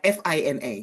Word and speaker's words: Phinnah: when I learned that that H at the end of her name is actually a mistake. So please tell everyone again how it is pronounced. It's just pronounced fina like like f i